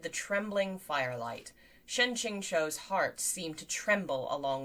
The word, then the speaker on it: Qingqiu: what's the difference uh ching is closer to chinchou so the last syllable is more like a o than a u okay ching cho shen ching cho okay